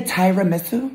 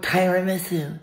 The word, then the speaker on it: tiramisu: it right this time we're gonna get the tyra miso okay i'll get you one tiramisu did i say it right tiramisu separate the